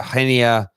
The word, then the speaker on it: Reinier: with this news about i want to try and pronounce his name right we know whether the surname is jesus but i think it's pronounced uh henia jesus young attacking midfield player